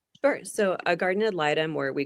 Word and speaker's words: guardian ad litem: Now, you're also a trained guardian of litem, is that correct? Did I pronounce that right? Guardian ad litem, yes.